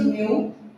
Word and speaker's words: mu: Pronunciation is mu.